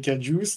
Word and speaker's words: KJUICE: Oui, Juice, puis on a rajouté un cap parce que c'était Kerbal. donc c'est Kajuice.